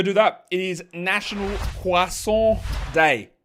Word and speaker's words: croissant: is national quason day not croissant it's a quas quas how wanky does it sound it sounds pretty wanky but I know that's how it's said I know that's how it's pronounced in French I know that it's